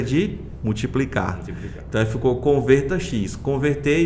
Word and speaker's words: Convertax: Porque eu entendo que Converta X não é normal de se pronunciar. né? Ou se fosse pronunciado no inglês seria Convertax ou Convertax, como a gente fala aqui, né?